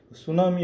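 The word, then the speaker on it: tsunami: சுனாமி அப்படின்னு பார்த்தீங்கன்னா இது ஒரு ஜாப்பனீஸ் வேர்டு.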